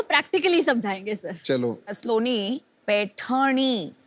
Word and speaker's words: पैठणी: स्लोनी, पैठणी, वो जरा प्रोनाउंसिएशन इनका चेक कर दीजिए।